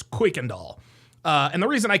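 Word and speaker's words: Kuykendall: And by the way, a lot of people pronounce this Kirkandall. It's not pronounced Kirkandall, it's Quickandall.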